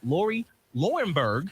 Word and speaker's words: Lauri Loewenberg: Our dream expert, Lauri Loewenberg.